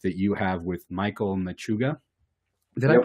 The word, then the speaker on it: Machuga: an upcoming book that you have with Michael Machuga. Did I Yep.